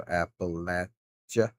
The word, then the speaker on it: Appalachia: But it's the Appalachia Mountains. If you're ever wondering uh how it's pronounced, it's Apple, but you got to kind of put a little pause in the L E at the end there.